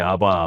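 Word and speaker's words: אבא: 아도나이엘로의 아바 아바 아바 아버지 그들은 하나님을 아버지라고 부르고 있었습니다. 그런데 그 발음이 아바가 아니라 아빠에 더 가까웠습니다. 아빠 들리세요?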